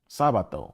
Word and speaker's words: Sabato: Sabato or Sabado. It sounds like Sabbath, right?